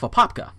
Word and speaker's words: Apopka: And this next one is out of Apopka. And that is how it's pronounced.